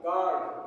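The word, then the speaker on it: guard: रंग हो जाएगा जी यू ए आर डी गार्ड गार्ड मीस चौकीदार जी यूई एस टी क्या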